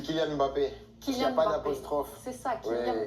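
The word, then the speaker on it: Kylian Mbappé: Il y a énormément de français qui vous appellent Kilian Mbappé. Est-ce que c'est comme ça qu'il faut prononcer ? Ah non, j'aurais beaucoup de travail si je devais corriger tout le monde. C'est Kyan Mbappé.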